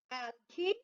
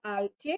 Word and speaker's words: algae: Next we have algae or algae. In both forms we can pronounce it.